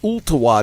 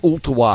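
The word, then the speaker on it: Ooltewah: February the 10th in Ulta wha Tennessee Ulta wha high school and yes actually pronounced it properly thanks for playing they're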